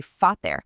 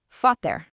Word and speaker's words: Vater: It's almost always pronounced like an English F. So, your instinct is going to be screaming at you to say "Vater", but your new programming knows better.